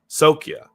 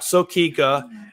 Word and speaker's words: Sokkia: First pronunciation of it. Sokkia. Not Sokika. Not Nokia.